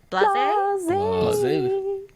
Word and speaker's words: Blaz: Blase? Blaze.